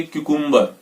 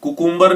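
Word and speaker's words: cucumber: और next word है हमारा ये, और इसको बोलेंगे क्यूकुम्बर। कुकुम्बर नहीं बोलेंगे, क्यूकुम्बर।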